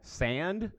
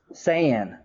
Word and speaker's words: Saiyan: Saiyan, and my wife didn't know how to pronounce it. So, yeah, I'm a pretty big anime fan. Sand? Saiyan.